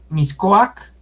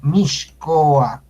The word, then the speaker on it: Mixcoac: es un ignorante porque no sabe cómo se pronuncia la X. Por ejemplo, Miscoac, Miscoac, que le dicen Miscoac, se debe de pronunciar Mixcoac.